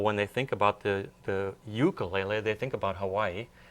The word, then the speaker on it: ukulele: In Hawaii, they pronounce it ukulele.